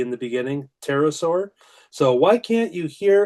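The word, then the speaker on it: pterosaur: Terasaur. So, why can't you hear a terasaur use the bathroom? Because the P is silent.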